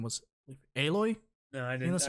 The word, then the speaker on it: Aloy: The main character, her name was Aloy.